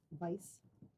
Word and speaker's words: Weiss: the last name uh it's white Vice Weiss pronounce Weiss w i SS like Rachel Weiss yes like in fact